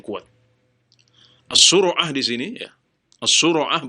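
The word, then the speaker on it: الصرعة: As-sura'ah bacanya begitu. Ala wazan fu'alah, seperti humazah.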